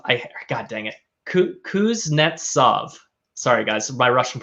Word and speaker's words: Kuznetsov: mob okay all right moving on to timothy kutsanov i god dang it kuznetsov sorry guys my russian pronunciation not great but that's better known as